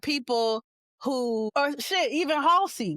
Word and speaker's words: Halsey: It's not Hazley? Yeah, no. Halsey? The L is before the S, best friend.